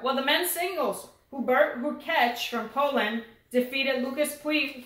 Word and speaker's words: Hurkacz: I've heard a commentator say, I know someone told us Hurkacz, but I've heard a commentator say Hurkacz, and I checked the pronunciation. It's Hurkacz.